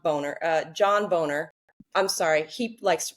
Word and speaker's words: Boehner: John Boner. I'm sorry. He likes to pronounce it Boehner, but it's Boner.